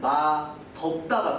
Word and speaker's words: 맛없다: 근데 지금 제가 발음하는 거 잘 들어보시면 둘이 뜻이 반대인데 발음이 달라요. 맛있다가 되고요. 하나는 맛덥다가 돼요.